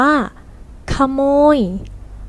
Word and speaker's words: ขโมย: 2 นั่น เอง คำ นี้ เรา อ่าน ว่า ขโมย หมาย ถึง ผู้ รัก ทรัพย์ ข้า ราชการ ก็